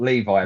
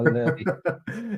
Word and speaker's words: Levy: So it's Levy, not Levi, right?